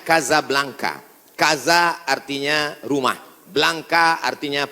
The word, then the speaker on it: Casablanca: Hasan dua di Kota Kasablanka ibukota Maroko tempat saya kuliah nama negaranya Maroko ibukotanya tulisannya Casablanca cara bacanya Kasablanka Kaza artinya rumah Blanca